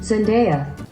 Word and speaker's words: Zendaya: Is it Zendaya or Zendaya? I never know. I feel like I always say it wrong. I'm gonna look it up. I feel like I've heard it both ways. Zendaya. That was right, of course.